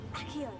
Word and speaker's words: Accio: Accio. 발음이 아키오 약간 이러네요.